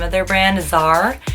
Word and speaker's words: Czar: name of their brand azar it starts the sea but you just don't pronounce it and it's just such